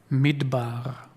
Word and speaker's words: midbar: mitbar in in English letters you would spell it m d b a r midbar it is has the same roots in Hebrew